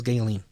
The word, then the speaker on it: Ghislaine: her name it's because i don't know how to pronounce a name that is g h i s l a i n i heard as galen so galen maxwell so